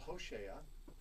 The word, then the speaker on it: Hoshea: He's sometimes called Hoshea, which is like Oshea.